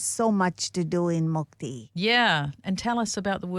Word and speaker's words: Mukti: So, Mukti, am I pronouncing that correctly? It's Mukti.